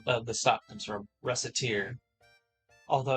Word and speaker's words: Recettear: That's where the name of the stop comes from, Recettear. Although it's like, yeah, if you pronounce it improperly, it can come off as Racketeer.